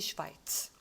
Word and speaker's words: Schweiz: Die Schweiz. 자, 이게 A가 아니고 I 발음이 난다. 그 다음에 나중에 우리 공부하겠지만은 SH는 쉬 발음이 나요. 그래서 Die Schweiz다.